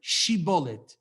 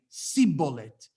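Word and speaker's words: Shibboleth: to them emor bullet say the word shiboli and he would say sibolet apparently because they were unable to pronounce it correctly apparently um we have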